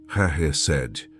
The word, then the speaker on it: chesed: A palavra é chesed. Pronuncia comigo onde você estiver. Chesed, com o "ch" vindo da garganta, como em Bach.